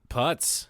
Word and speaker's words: Putz: Putz. Putz? Putz? No, like that thing people called people for, it's Yiddish for penis.